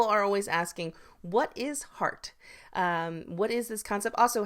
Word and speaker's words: HRart: So if you haven't noticed when I'm saying heart and you maybe didn't even realize that that's the word, HRart, we pronounce it heart here at Leadership Arts Associates. Some people say HRart, HRart, but it's heart.